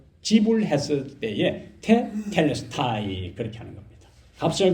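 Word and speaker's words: τετέλεσται: 헬라어로 테텔레스타이 그렇게 합니다. 테텔레스타이.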